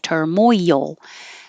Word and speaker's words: turmoil: everyday what you'll hear turmoil I've made this three syllables but it's not three syllables like turmoil term turmoil because you're going moyal sliding down so there's a lot of movement from Moy yield so remember to make your tongue high enough turmoil I should put this